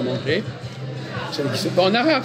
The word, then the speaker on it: manger: pas, par exemple, manger, on ne prononce pas le R de manger, je veux manger.